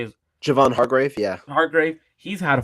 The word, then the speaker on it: Hargrave: their not their main guy uh but Mark harsgrave how do you say is Javon Hargrave yeah Hargrave he's had a phenomenal season so